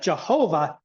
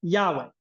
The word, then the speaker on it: Yahweh: But we know for certain that Jehovah is nothing at all how the Hebrews would have said. We know that the vowel pointing is coming from Adonai, not from the correct pronunciation, however it was pronounced, from Yahweh.